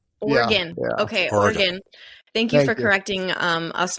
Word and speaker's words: Oregon: You pronounce it Oregon. Oregon. Yeah. Okay, Oregon.